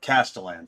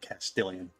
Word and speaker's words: Castellan: Yeah, Castellan. Thank you. Not Castilian.